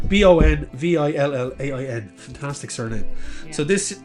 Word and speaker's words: Bonvillain: It's a fantasy series by Kieran Gillen, Dan Mora, and Tamara Bonvilliers. I always get that name wrong, but then it's Bonvillain.